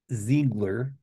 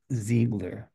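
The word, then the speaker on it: Ziegler: criminal charges against Christian I say Zigler it's not in German pronounced zegler is that the guy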